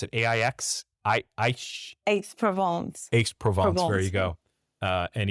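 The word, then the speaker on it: Aix-en-Provence: And he said he nearly gave away the address that he was living in Paris, or I couldn't even pronounce it. AIX? Aix-Provence.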